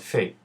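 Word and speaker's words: פ: A pey with a dagesh sounds like I taught you, pey, and the pey without a dagesh is pronounced with a f sound and is called fey.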